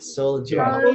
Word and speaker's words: soldier: Soldier. Soldier. Soldier. Jadi D jadi kayak dibaca J gitu.